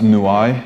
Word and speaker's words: New Eyes: album new eyes new eyes um it's actually pronounced newai and it's it's a place in the south